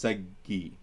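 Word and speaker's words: ܣܓܝ: So it's Saggi, right? So if this was the word, we would pronounce it Sag. So if the word was Sag, that would be pronounced Sag. But because you've got Semket Tacha, that Gemel has to end it Sag, and there's no such thing as a Higyana, a syllable, E, a Khwasa by itself. It needs something. So it becomes Saggi.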